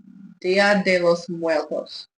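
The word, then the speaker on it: Día de los Muertos: Dia de los Muertos. Dia de los Muertos.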